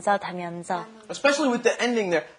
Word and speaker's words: 다면서: And it's kind of hard to pronounce the 면서. And you got to get it rolling off your tongue. So practice that a couple of times. 다면서.